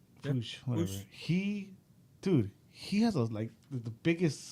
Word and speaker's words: Puig: Ricky Puig. Oh, however the fuck you say his last name. You said it right. Puig, whatever.